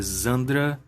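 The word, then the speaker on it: Xandra: a pronúncia em inglês dela é Zandra, mas de qualquer forma soa muito como Sandra, né?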